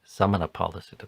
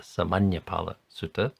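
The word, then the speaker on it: Samaññaphala Sutta: I think I also mispronounced that yesterday, calling it the Samanapala Sutta, but it's the Samanyapala Sutta.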